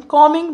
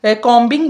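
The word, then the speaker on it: combing: अच्छा इसमें यह जो बी है ये साइलेंट होता है। इसको आपने कॉम्बिंग नहीं कहना। आपने क्या कहना है? कॉमिंग my hair.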